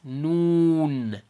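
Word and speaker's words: نون: same place noon and if i say it in english like the way the word sounds it's or it's spelled right now noon hey uh what time is the event tomorrow it's going to be at noon noon noon so again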